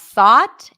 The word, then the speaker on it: thought: so here we have thought and taught they are very similar they even rhyme so here the spelling represents the same vowel a a a could